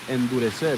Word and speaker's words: endurecer: And that's how you say it in the Spanish, endurecer.